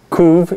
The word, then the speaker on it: couve: Reason for that, the Portuguese word for kale is, how do you say it? Couve. It's spelled similar to curve, and so her family, her grandfather modified it to say curve, baseball soup.